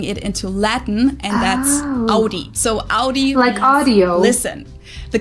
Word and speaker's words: Audi: the first one is Audie most Americans that I know pronounce it like I just said it AI in German we say Audi Audi and there's actually a